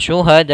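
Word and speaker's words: شهداءكم: dalam riwayat Imam hafaz maka kita membacanya syuhadaakum empat ya syuhad tidak terlu panjang tidak sampai en tidak syuhadaakum kepanjangan empat saja syuhadaakum Min dunillah kemudian ada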